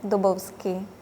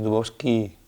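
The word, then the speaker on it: Dubovský: Se pronuncia Peter Dubovski. Agargando la i porque ahí lleva el acento en la y al final. Además no es Dubovski, es Dubovski.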